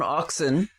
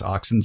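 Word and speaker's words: auxin: know why sure I guess there's a hormone oxin and it's produced primarily in in buds in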